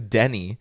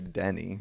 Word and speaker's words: Denny: pronouncing it weird but his name is actually Denny like Denny's I thought it was his name was Danny but someone had to have been named Denny for there to be a Denny's you know just the